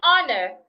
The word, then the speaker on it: honor: In the word our honest and honor, the age should not be heard.